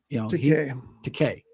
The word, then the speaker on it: Takei: So in the John Wayne movie, The Green Berets, George Takei was also in that, and Takei. It rhymes with decay.